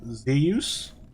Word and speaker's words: Zeus: I remember how you said Zeus. That's how Polish people say it. Zus.